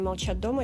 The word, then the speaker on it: Молчат Дома: Molchat Dama notamment, attention à ne pas se tromper sur la prononciation. Как правильно, молчат дома или молчат дома?